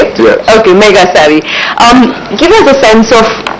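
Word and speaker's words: Megasari: Okay, Mega Savvy.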